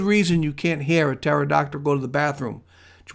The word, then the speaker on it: pterodactyl: There's a really good reason you can't hear a pterodactyl go to the bathroom. Do you want to know why? Because the P is silent.